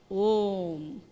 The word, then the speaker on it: Om: So A and U are merged together and we say Om.